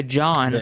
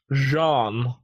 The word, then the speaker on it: Jean: But anyway, but then a group of other onlys, led by John, spelled with an A. Yep. Jean. It's French.